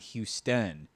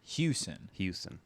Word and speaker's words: Hewson: And also Hewson, Hewson, not Houston. Yeah. Hewson.